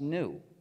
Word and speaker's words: gnu: Because according to the dictionary, the G is silent and it's pronounced new.